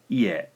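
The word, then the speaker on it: いえ: The word up on top here, ie, two syllables, 1 and 2, e, e. On the bottom, we have, well, it's spelled the same essentially, but with an extra e out front. And we've got 3 syllables here.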